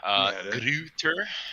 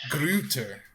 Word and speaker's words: Gruetter: is he said it in, how do you pronounce it again? Oh man, Gruetter. Gruetter.